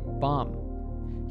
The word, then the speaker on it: bomb: and bomb is silent words in English that end in mb are usually pronounced with a silent B so we say bomb here are other examples